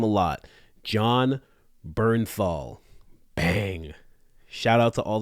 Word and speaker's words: Bernthal: episode 1916 with wait for it because I've mispronounced this name a lot John Bernthal bang shout out to all the people who